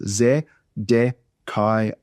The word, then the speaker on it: Zedekiah: So in Zedekiah the final syllable there it starts with a vow. Ah starts with a vow but in the Hebrew it's actually a Y ah. So y z a kaya. You don't need to know that or try to pronounce a silent Y. My point is they're all one syllable sounds.